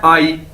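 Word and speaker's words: 阿姨: से मिलकर बना है, लेकिन इसको प्रोनाउंस कैसे करना है, आई। ठीक है, AYI, आई, जिस तरह इंग्लिश का वर्ड है आई।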